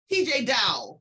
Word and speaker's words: Teejay Dowe: Teejay Dowe, correct? Correct. Good pronunciation.